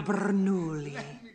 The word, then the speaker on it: Bernoulli: Francesco Bernoulli. No wonder there's a crowd. Wait, why do you know his name? And don't say it like that. It's three syllables, not ten.